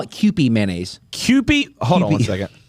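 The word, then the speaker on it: Kewpie: it's called it's they call it Cy mayonnaise Cy hold on one second spell it k e w p i e Mayo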